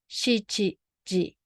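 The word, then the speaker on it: 七時: what time is it seven o'clock is we pronounce as shichi ji so then 10 minutes let's look at the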